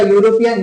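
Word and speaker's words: European: दूसरा दूसरा एग्जांपल जैसे यूरोपियन आपने नाम सुना होगा यूरोपियन। यूरोपियन का जो फर्स्ट लेटर है वो इ है। क्या है? इ है। लेकिन इसका उच्चारण है वो ये है।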